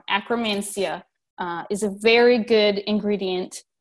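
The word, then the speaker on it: Akkermansia: them contain levels of Ekrem Asya bacteria which is a anti-inflammatory and metabolism metabolism boosting ingredient and a chrome and sorry I said it wrong Akram and Xia is a very good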